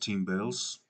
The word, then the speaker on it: Timbales: I think that he pronounces his name like that, Timbales.